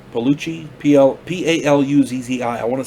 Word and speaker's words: Paluzzi: got robert horton richard jaigle ted gunther luciana paluzzi palucci p-l-p-a-l-u zzi i want to say her name